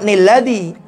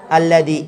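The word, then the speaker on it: الذي: Kemudian bacanya bukan, kalau sudah berhenti bacanya jangan nilladhi. Bacanya alladhi. Ini yang baca nun itu kalau diwasal. Kalau disambung. Jadi contoh, bikulli khalqin alimun nilladhi. Kalau disambung ini hukumnya pakai tambahan ni.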